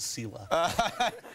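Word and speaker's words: CILA: We pronounce it SELA.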